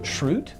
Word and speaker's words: Schrute: So Dwight, it's pronounced Schrute?